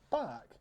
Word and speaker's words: Barq: look at a furry social media app called bach it's spelt like this not how you it's normally